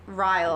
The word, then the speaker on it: Ryle: she meets this guy rile on a rooftop and it's a wild name Ryle I know right crazy Kyle spelled like Kyle with a r um and so it's